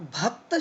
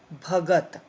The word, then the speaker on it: भगत: दूसरी बात, भक्त शब्द नहीं है, भगत। भक्त शब्द नहीं है, भगत है।